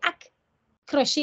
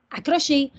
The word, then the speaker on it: accroché: ont fait des économies c'est hack crochet mais on dit pas hack crochet on dit accroché donc faut enseigner selon